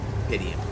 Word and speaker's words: Rapidium: Rapidium. That's how you say it.